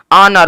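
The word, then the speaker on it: honour: मतलब घंटा एच ओ एन ओ यू आर ऑनर ऑनर मतलब इज्जत देखेंगे अगर आप यहां पे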